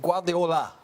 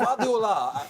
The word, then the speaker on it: Guardiola: I'm trying to say his name right, but Guardiola. Correct. Guardiola this season is Please making...